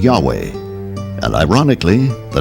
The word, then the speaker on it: Yahweh: Yahweh was named j because early European translators were ignorant of the correct pronunciation of Hebrew names many inadvertently referred to the name of God as Jehovah instead of Yahweh and ironically the name